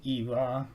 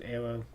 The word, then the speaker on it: Era: Now I know you could also pronounce her name as Ira, but I'm going with the traditional name that the Japanese gave her, which was Era, referencing the English word error.